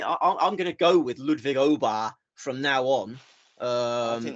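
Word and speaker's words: Ludwig Åberg: Because I saw him do a piece to camera last week where he said, "Hi, I'm Ludwig Obar."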